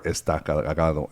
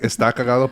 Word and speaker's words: Está Cagado: Look up Sam Butler and type in the shit podcast or Está Cagado. Actually, it's spelled S-T-A Cagado.